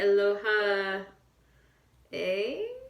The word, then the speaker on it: Aloha Oe: tutorial on how to play Aloha hey that's how you say it on the guitar so